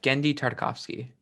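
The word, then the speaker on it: Genndy Tartakovsky: take that for me real quick uh it's gendy tartakovsky there we go thank you and then we're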